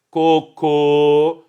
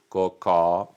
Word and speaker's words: cocô: São elas: cocô, que pode ter acento circunflexo ou acento agudo, cocó.